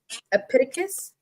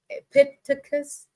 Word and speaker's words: Epictetus: And so the first quote is from Epictetus. Epictetus. Epictetus.